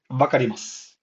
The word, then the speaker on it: wakarimasu: Uh, one thing I've noticed is that when the word ends in su, it's the u is most likely silent. Wakarimasu means I understand, and it's spelled like this. Wakarimasu, right? But you only say this, wakarimasu.